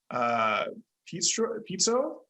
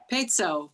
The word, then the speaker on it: Pezzo: The first testifier who signed up is Dr. Pizzo. I'm sorry if I mispronounced that. Pezzo, you're close. Pezzo.